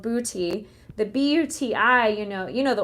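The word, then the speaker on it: Buti: Booty yoga, ironically, it's called booty.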